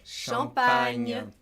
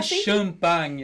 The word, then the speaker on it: champagne: Champagne. Champagne. Não é champanhe, é champagne. Né? Esse on, champagne. E a boca cai um pouquinho, assim, ela abre champagne.